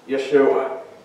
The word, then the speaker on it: Yeshua: people from their sins Jesus is actually the Greek form of the Hebrew name joschwa work more properly pronounced Yeshua and what does it